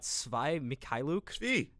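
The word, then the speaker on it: Svi Mykhailiuk: the whole Hornets did this but they got svi mikhailuki that's how you say his name and two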